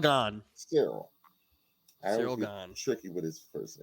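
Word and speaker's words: Ciryl Gane: How do you pronounce? It's Cyril. Cyril right? Gahn. Cyril. Cyril Gahn.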